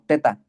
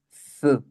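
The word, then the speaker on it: ζ: Algunos la pronuncian como teta, otros como Z, pero lo correcto es Z. Pones la, el sonido es como en el inglés, pones la lengua topando con los alveolares superiores, que son los dientes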